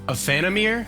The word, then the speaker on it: Aephanemer: all right a phantom ear i think is how you say the name of the band the sovereign um excuse